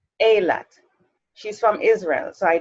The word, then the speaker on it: Eilat: She travels back, together we travel back in time to her humble childhood in, how do you pronounce that? E-I-L-A-T? Eilat. Eilat.